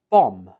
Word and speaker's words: bomb: In written English, this is spelled with the letter B, but when we speak it, we omit the B and just pronounce it as bomb. Bomb. There is no B sound.